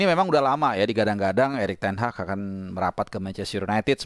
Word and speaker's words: Erik ten Hag: Ini by the way, pronounce Erik ten Hag ini banyak versi ya, tapi dari yang gue tahu ya, bacanya Erik ten Hag. Nah, jadi kayak ada G sedikit, H sama C juga, Erik ten Hag gitu ya.